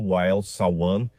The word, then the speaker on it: Wael Sawan: Foi isso que o CEO da Shell, acho que o nome dele se pronuncia Wael Sawan, acho que é assim que se pronuncia o nome dele, mas ele disse isso ontem.